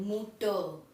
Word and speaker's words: Mutter: यहाँ भी R silent है और यहाँ भी R साइलेंट है, मूटर फाटर।